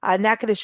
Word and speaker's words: Natchitoches: convention and Visitor Bureau for sponsoring Today's Show nakadish is the oldest city in the state of